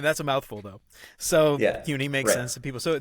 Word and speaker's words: CUNY: I always said City University, but is it CUNY? Is that how you pronounce it? Is that how people in New York say it? I'm pretty sure it's CUNY. It's like a cue ball almost, Okay.